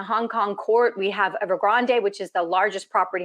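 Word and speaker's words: Evergrande: first time time that ever Grande was going to or ever Grand depending on how you say it the Chinese say ever grand um that that ever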